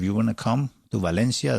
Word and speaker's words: Valencia: The next one's going to be in Valencia. Well, Valencia, if you want to pronounce it correctly.